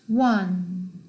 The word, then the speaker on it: one: 자, number one is pronounced one. one. W가 앞에 들어가 있죠?